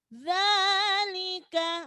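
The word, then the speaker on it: ذَٰلِكَ: Nah, dzalika, hati-hati di situ dza bukan za.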